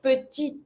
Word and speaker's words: petite: But because it's mute, I'm going to pronounce my letter just before that mute E. So this one here, we're going to say petite. T. And I'm going to pronounce my last T because it's ahead of my mute E.